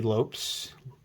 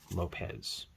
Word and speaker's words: Lopes: billy bean pete ladd davey lopes lopez he pronounces the lopez i believe philip speck here's the